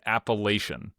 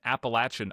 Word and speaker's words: Appalachian: Appalachian Trail and I said Appalachian and uh people massacred me. They were so mad. I got so many emails and they're like, "No, it's wrong." And I went and like looked and it like both Appalachian and Appalachin are if you look in